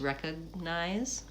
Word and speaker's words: recognize: It almost sounds like the G's not there. Recognize. But you can hear the difference. If I say it with no G, recognize versus recognize, the second one is correct. You want the G to be marked.